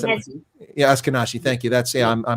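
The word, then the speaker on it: Ashkenazi: jewish population israel is is is from the oscar that's that's who they are and if i mispronounce it yeah askanashi thank you that's i'm a little bit off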